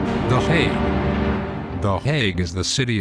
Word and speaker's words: The Hague: And what does plague rhyme with? That's right, The Hague.